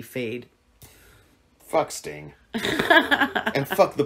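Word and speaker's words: Feyd: They spell it F-E-Y-D or something. F-E-Y-D, Fade.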